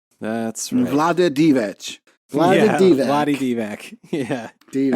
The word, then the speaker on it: Divac: You It's Divac. Look on the bright side. Divac.